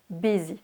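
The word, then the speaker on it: busy: prononciation ça s'écrit bien eu mais ça se prononce bézy am by this arrivée dans le prochain mois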